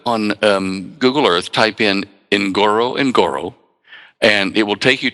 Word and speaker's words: Ngorongoro: Yeah, to make it easy to pronounce, I divide it in two and call it Ngoro, and the locals call it Noro, like that.